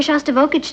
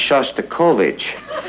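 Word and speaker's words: Shostakovich: taking me to here shav vage tonight honey I think that's pronounced sh kovich we'd like to meet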